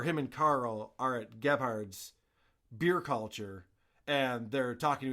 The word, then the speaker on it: Gebhard's: last week, where him and Carl are at Gebhard's Beer Culture, and they're talking to each other in a noisy bar restaurant.